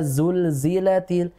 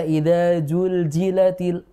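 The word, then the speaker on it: زلزلت: rizqun jadi rizqu atau ketika dia berharakat zulzilatil dibaca idulilatil begitu jadi Jim ini nyata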